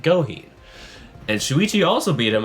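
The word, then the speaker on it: Gohin: Afterwards, Shuichi went up against a well-known, well-beloved Beastars character, Goheen, is now how I should have pronounced it this entire time, Goheen.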